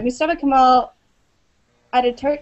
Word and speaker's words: Mustafa Kemal Atatürk: So can you act like, I'm sorry, Mustafa Kemal Atatürk, is that how you pronounce it?